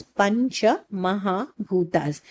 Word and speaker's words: Pancha Mahabhutas: The proper pronunciation of this word basically goes as Pancha Mahabhutas, which is nothing but the idea of Pancha Mahabhutas is nothing but five great elements.